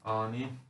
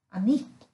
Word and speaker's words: אֲנִי: Annie. Mm. Okej. Annie. Annie. Betoningen på sista om det inte står något annat.